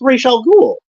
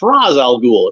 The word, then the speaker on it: Ra's al Ghul: be like oh that's that's raal ghoul or or that's RZ Al ghoul if they pronounce it that way so so yeah uh